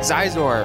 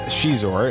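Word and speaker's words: Xizor: eyes in different people it looks like zeiss or thing it's prince shizuor it's spelt x-i-z-o-r um let's give you some context he's actually from the legends continuity now uh prince chizor was a fallen prince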